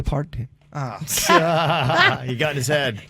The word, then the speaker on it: Parton: Make sure you say her name wrong. Pardoned. Dolly Parton.